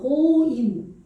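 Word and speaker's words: גוים: 고임. 요거 돼야지. 요렇게 기멜이 왔죠? 이게 지금 오죠. 오 발음이죠. 고임.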